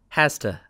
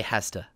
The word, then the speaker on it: has to: And for the third person, it's hasta. So, he has to buy bread, or she has to go to school. This is also not correct spelling. You must write has to. But when we speak, you say hasta.